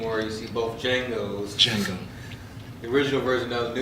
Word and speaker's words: Django: Django. The original version of the new one. Can you spell it? D-J-A-N-G-O. The D is silent.